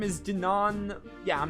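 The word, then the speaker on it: Dunan: your ears and listen well my name is Dinan yeah I'm not pronouncing that I'm nephew to Queen Alicia the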